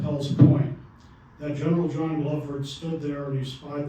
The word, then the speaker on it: Glover: Glover, Yeah. or Glover, actually, I'm told is pronounced. People in Massachusetts tell me, but yeah, Glover's Rock.